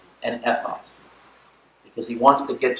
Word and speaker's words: ethos: They're pronounced logos, ethos, and pathos.